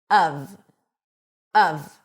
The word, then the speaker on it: of: It's pronounced when emphasized of of with a cup sound and a v sound. Even though it's spelled with an f, it's a v.